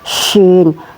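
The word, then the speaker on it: ش: Kemudian ini syin tebal ya. Syin diharakati fathah maka dibaca sya ya tebal.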